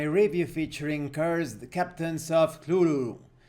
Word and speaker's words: Cthulhu: featuring curs captains of Kulu or cthulu I try to use the lovecraftian pronunciation of Kulu this is Pirates of